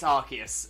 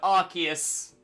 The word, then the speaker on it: Arceus: So yeah, so only once in the anime is it pronounced with a soft C. Ever since then, it's Arceus. Ever since. So it's only ever been once where it's been pronounced that way, and it is considered just to be a mistake in the anime. But yeah, so Arceus is correct.